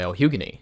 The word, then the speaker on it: lhugueny: Not to be confused with the other musical, as this one is made by El Hugany.